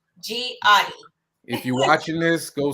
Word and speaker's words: Gehati: The H is silent. The So H is the silent. Gehati.